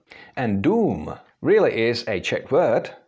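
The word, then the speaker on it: dům: is exactly the same it's long oo something that you would say for example in the English word doom and doom really is a cck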